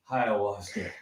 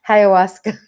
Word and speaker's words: ayahuasca: Is it called, how do you pronounce it? Ayahuasca? Ayahuasca. Ayahuasca.